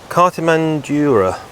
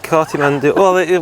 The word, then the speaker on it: Cartimandua: Right, Cartimandua and the Brigantes. You've butchered that name. Cartimandua.